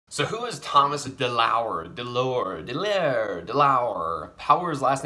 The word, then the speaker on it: DeLauer: DeLauer, DeLauer. Power's last name is pronounced.